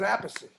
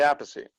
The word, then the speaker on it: Appice: yeah so that's because we pronounce it differently we didn't go over that yeah yeah cause i see a piece and he says apushy i say apathy and we have an